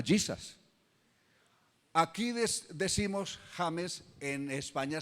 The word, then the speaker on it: Jesus: Por ejemplo, se escribe Jesús, pero no se dice Jesús en inglés. ¿Cómo se lee? Se le da el sonido de Y, que era su sonido original. Se llama Jesus.